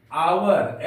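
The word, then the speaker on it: hour: जाता है जैसे एन आवर एच ओ यू आर एन आवर एक घंटा आवर में एच साइलेंट है यहां पर इसका उच्चारण नहीं किया जाता है इसलिए यहां पर एन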